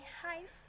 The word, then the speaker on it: hive: Lalu yang ini hive. Ini harusnya kalau di tengah dibacanya AI. Hive. Karena bahasa Inggrisnya kan I juga ya. I itu kan pelafalannya AI. Jadi dibacanya hive.